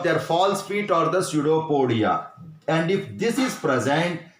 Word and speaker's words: pseudopodia: Pseudopodia. Here P is silent, pseudopodia.